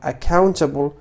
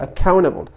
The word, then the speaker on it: accountable: فدائما تقريبا إذا جاءت تي بعد أن لا نقوم بنطق التي. لماذا؟ من أجل تسهيل عملية النطق. فعود القول accountable، أقول accountable. ففقط التنبيه، كلمة إذا قلت accountable فطريقة نطقي صحيحة، ولكن